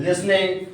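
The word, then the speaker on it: listening: read a ठीक है silent word इसमें कुछ कुछ ना कुछ है साइलेंट मतलब होता है छुपा हुआ ठीक है टे मतलब यहां प छुपा हुआ है तो मेरी हॉबीज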